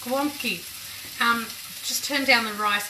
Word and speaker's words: gołąbki: It's spelt G-O-L-A-D-K-I, so I keep pronouncing it that way. It's gołąbki.